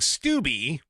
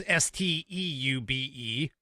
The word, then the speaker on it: Steube: Well, that immediately got defended publicly by Representative Greg Steube. I think that's how it's pronounced. It's Steube. I don't know, maybe it's French, Steube.